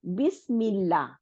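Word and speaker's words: بسم الله: দেখেন আলিফ লামের আ, এই হামজাতুল ওয়াসলকে আমরা উচ্চারণ করতেছি না, আমরা বলতেছি না যে বিসমি তারপরে আল্লাহি, এটা বলতেছি না, আমরা বিসমিল্লাহ।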